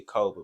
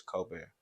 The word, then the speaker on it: Kolbair: man that's my name some people pronounce that code but it's cold beer so yeah now you